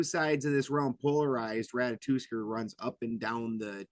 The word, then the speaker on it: Ratatoskr: How do you pronounce his actual name? It's Ratatoskr. Ratatoskr.